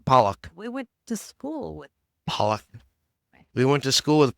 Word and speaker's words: Pollock: in 1957 the Pock family. Wait, why are you using that voice? I don't know because just read. I don't know how to pronounce it. It's P O Lock. Yeah, Pollock.